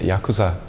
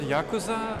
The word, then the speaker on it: yakuza: The word Yakuza comes from the very old Japanese, where you have the 3 syllables, ya, ku and za, and it's actually 8,